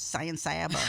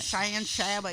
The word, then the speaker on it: San Saba: It's actually correctly pronounced. It's San Saba. Hang on, I You got nailed it. Good. I know. You I've been got working on it. San Saba.